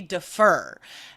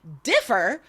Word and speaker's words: differ: the students was like that's not how you say it because I've heard native speakers say defer and I'm like well that's a different word like that's an entirely different word differ syllable first syllable is just and defer that's like a it's a different verb it's totally different um so anyway my point